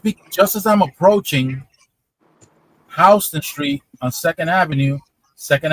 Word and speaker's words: Houston: particular street is pronounced Hston, just in case you go to Manhattan and you see it, you see the sign, it's spelled the same way, but it's pronounced differently.